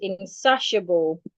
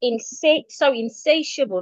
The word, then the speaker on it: insatiable: And the next word we have is insatiable. The T-I there sounds like S-H. So it's insatiable, not insatiable, say.